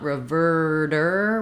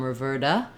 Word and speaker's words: reverter: so I don't want reverter with a strong long R there but it's still a tighter so don't let it become Roberta or ravada work on it if you're going for the American pronunciation you're going to need that pulled back tight R sound you can get more